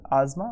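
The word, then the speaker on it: asthma: तो अस्थमा, अस्थमा, ठीक है, दैट्स प्रोनाउंस आजमा, बट ओके।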